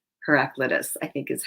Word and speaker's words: Heraclitus: the listening I hope I'm saying that right heraclitus I think is how you say it he